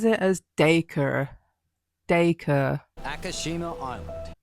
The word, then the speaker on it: Dacre: Okay, he says it as Dacre. Akashima Island. He says it as Dacre, so that might be like an Australian specific pronunciation.